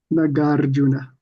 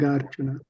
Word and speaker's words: Nagarjuna: First two are long. Which vowel? Which one? Na. Gar. Na. Ga. And then it's a compound. Rju. Yeah. We have to say it in our English minds. Gar. We have to say that.